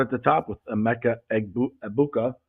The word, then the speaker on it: Egbuka: So let's start at the top with Emeka Egbuka. The G is silent, we're told.